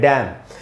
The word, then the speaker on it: damn: उसके तुरंत बाद वाला वर्ड DAMN, इसमें एन साइलेंट होता है, इसको पढ़ते हैं डैम।